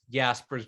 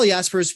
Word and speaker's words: Jaspers: stance is that we shouldn't overreact when someone mispronounces the name let's just focus on who's the man Carl Jasper's Jaspers thank you yeah so Carl yaspers was probably the most most influential existentialist in